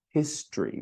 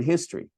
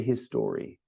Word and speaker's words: history: History. We don't say the E in literature, the first E, and we don't pronounce the O in history. History. History. We don't say his story.